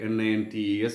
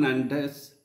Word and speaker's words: Nantes: N-A-N-T-E-S. Nantes. Bordeaux is written as B-O-R-D-E-A-U-X. So B-O-R-D-E-A-U-X is pronounced as Bordeaux. Bordeaux is famous for its wines and grape yard, etc. So port cities like Bordeaux and Nantes flourished economically because of the slave trade.